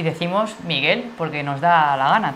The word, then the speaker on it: Miguel: Pero la pronunciamos como si fuera una palabra llana, que debería tener tilde entonces en la I, sí, pero no. Y decimos Miguel porque nos da la gana, tal cual.